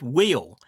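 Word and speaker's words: wheal: For me Cornish word of the week I'm going for the word wheel wh e a l.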